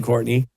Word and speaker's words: Courtenay: And yes, and I spell my name Courtenay, just for those who are looking for it. But are we saying it correctly? We're saying it correctly. It is just spelled like Courtenay.